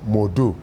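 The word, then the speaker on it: Modou: written in french so it's m-o-d-o-u modu so when i moved to the u.s when i moved to the u.s people had hard time because english speaking they cannot they don't pronounce oh they will say what's your name i'm like okay let me just drop the o since then everyone will say modu that's how it starts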